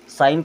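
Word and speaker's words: sign: यह हो जाएगा catch S आई जी एन यहां पे जी साइलेंट होता है साइन करना मीस क्या होता है दस्त करना तो यहां पर जी साइलेंट रहेगा ठीक है यहां पर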